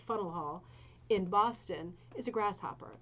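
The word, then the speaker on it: Faneuil Hall: top of fennel hall properly pronounced funnel hall in boston is a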